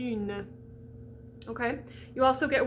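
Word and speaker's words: une: to say the n you have to do that little y on the u na okay you also get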